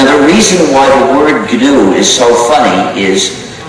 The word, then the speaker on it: GNU: the system for 16 years so it's not new anymore but it still is G so please pronounce it g you must avoid pronouncing it